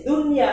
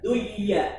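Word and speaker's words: دنيا: yakulu sendiri kalau di Dunya antara Nun dan ya itu terkait ya berkaitan jadi ini dibacanya dengan zhar Bukan duya tapi dunya balyatad Dunya balirunal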